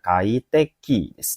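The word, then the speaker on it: 快適: Yap, untuk kanji nomor 3 jawaban yang benar adalah jawabannya cara baca yang benar adalah nomor satu bin saya ini bacanya kaiteki kaiteki.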